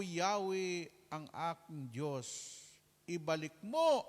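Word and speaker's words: Yahweh: addition to the name of god's ito na pronounce with the vocalization Yahwe ayan na ang Diyos ni Moises ha si Moises.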